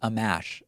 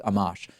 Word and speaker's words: Amash: I know it's not Amash. I think I pronounced it Amash and someone said it's Amash.